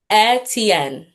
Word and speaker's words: Etienne: How do I pronounce your last name properly? Etienne. Etienne. Etienne.